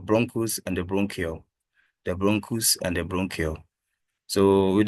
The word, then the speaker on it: bronchus: The bronchus and the bronchiole. So with the bronchus, this is how it's been pronounced. So you use the sound. We have the bron and cus.